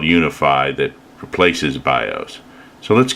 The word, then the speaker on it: UEFI: says boot mode select it has uefi which is pronounced unify we're going to hit